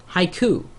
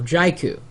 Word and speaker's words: Jaiku: And in comparison, Haiku, or Jaiku, depending on how you pronounce it.